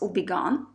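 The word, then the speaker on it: Houbigant: really old Niche house obon it's spelled with an h and ends with a T but those are silent and French obon and this is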